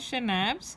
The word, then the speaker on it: schnapps: Schnapps is pronounced as schnapps, a German drink made from grain.